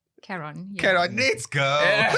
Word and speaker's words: Caron: Caron. Yeah. Caron, let's go. Something like Ron. Like if you call me Ron now.